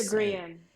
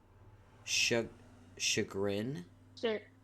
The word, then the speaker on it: chagrin: I read it, but I never say shagrin. Shagrian. Shagrian. That's how I say it. Can you please point to the E in that word?